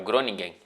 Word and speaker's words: Groningen: O Van Dijk ele estava no Groningen, se eu não me engano, é assim que se pronuncia, é o Groningen, enfrentando o time do